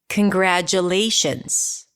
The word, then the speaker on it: congratulations: But what about the first syllable? Is it congratulations or can we reduce it to congrat? Yes, we can. Yes, we can. So it's awah can.